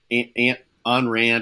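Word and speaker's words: Ayn Rand: a logical thinker an an Rand I think is how you say your name an Rand an Rand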